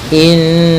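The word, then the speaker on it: إنّ: Pada bacaan inna di sini ada hukum tajwid yaitu gunnah, yaitu cara membacanya adalah kita menahan suara nunnya ya terlebih dahulu sepanjang 2 harakat lebih sedikit ya, kemudian baru kita baca janya.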